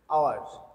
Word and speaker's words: hour: But differently, you see an hour. Here, hour is though is consonant, but it is silent in pronunciation.